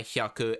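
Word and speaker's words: 百: You pronounce that by hyaku, and it follows almost the exact same system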